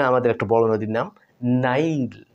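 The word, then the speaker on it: Nile: একটা বড় নদীর নাম নাইল মানে আমরা বাংলায় বলি নীল ননদ যেটা আর কি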